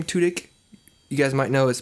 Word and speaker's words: Tudyk: Nathan Fillion, who plays Rick Castle in the show Castle, and Alan Tudyk, I think it's how you pronounce his name, Tudyk.